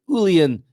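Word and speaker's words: uilleann: J back pipes and Ulan is how you say it Willian Willian pipes are included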